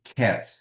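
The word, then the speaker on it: ket: this notation here and this one would be called a cat and I'll just tell you how to pronounce this. So this would be a cat. K. These are not cat like the pet but this is from the so-called brac notation which is very common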